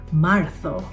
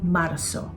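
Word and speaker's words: Marzo: Ang March naman, Martho. Pero Z ang spelling nito. M A R Z O. Martho sa Espanyol kasi ang pag-pronounce ng letter Z ay parang soft th so Marth hindi Marso.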